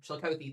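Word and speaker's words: Chillicothe: in just a moment as well or Chili Chilikothy. Chilikothy. Thank you guys. I appreciate it.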